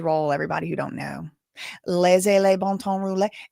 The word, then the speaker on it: Laissez le bon temps rouler: Laissez le bon temps rouler. And that's Cajun French pronunciation. I don't know how they say it, in real French.